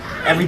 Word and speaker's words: Yves: what I mean so I've always thought it was Eve I've thought it was e until um I saw um John Terio fight and it's John Eve and his name is spelled exactly the same way okay so so you